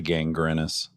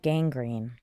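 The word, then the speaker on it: gangrene: How do you say gangrinus? It had gang green.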